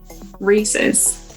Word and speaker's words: Reese's: Reese's.